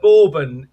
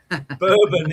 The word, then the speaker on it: Bourbon: So, see, to me, a borbin is a chocolate biscuit. Bourbon is the American whiskey. It's spelled the same, isn't it? I think it is. Yeah. But it's a borbin versus a bourbon.